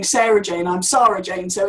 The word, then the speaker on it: Sara-Jayne: I'm Sara-Jayne, so it's kind of a bit...